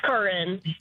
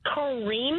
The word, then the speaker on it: Corinne: Is it Corinne or Corinne? How do you say, or neither? It's Corinne. Okay, but people could say Corinne, right? Yeah, I've had someone call me Kareem before, as in like my two N's were an M.